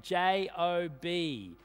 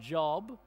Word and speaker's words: Job: of those people uh your your name is spelled one way but pronounced you can kind of Imagine job he's on the phone he's saying yet j-o-b I know it's spelled job but it's pronounced job uh if you're one